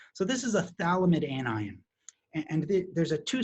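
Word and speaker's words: phthalimide: just say thalam it you don't pronounce the pH so this is a Thal limit anion and there's a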